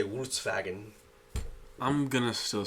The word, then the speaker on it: Volkswagen: it's pronounced right because in Germany the the V and the W are switched sounds so we say Volkswagen they say Volkswagen I'm gonna still say